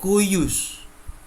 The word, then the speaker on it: cujus: J itu dibaca Y atau I. Maka kujus, cujus dibaca kuyus.